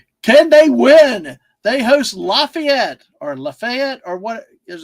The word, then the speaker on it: Lafayette: They host Lafayette or Lefayet or what? There's a county in what I'm gonna say. Well, in in uh Florida there's a uh it's it's pronounced for a county lefet and in Purdue plays in West Lafayette.